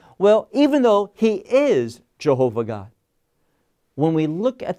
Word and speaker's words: Jehovah: of God what what properly is is pronounced as Jehovah or what wrong people who do not know Hebrew will call Yahweh it's not Yahweh its Jehovah now why is that